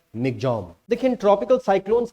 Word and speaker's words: Michaung: और देखिए इंग्लिश में देखने में आपको लग रहा होगा मिचोंग, लेकिन म्यांमार की भाषा का ये शब्द है। म्यांमार में लोग इसको मिग्जॉम बोलते हैं, तो इसका असली जो प्रोनाउंसिएशन होगा वो होगा मिग्जॉम।